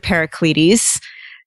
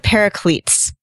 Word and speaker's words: Paracletes: It is not, in fact, Mr. Paracletes. It's Mr. Paracletes.